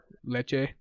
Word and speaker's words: Lecce: I saw that Lukaku got his first goal for Inter with their win over not pronounced Lecce. Lecce.